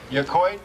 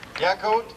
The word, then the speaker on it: Yacolt: and Julie Brown from Yacoit, Washington. Did I pronounce the city right? Yacolt. Yacolt. Okay. I thought that was an I.